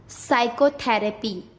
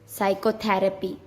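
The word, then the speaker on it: psychotherapy: जब एस से पहले पी आता है तब पी साइलेंट हो जाता है। किससे पहले? एस से पहले। जैसे साइकोलॉजी, साइकेस्ट्रिस्ट, साइकोथेरेपी, एस से पहले पी, साइकोथेरेपी।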